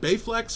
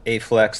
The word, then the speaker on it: Baephlex: is uh is it bayflex or a flex can you it's uh it's pronounced a flex that b is silence oh okay okay it's silent and invisible if you're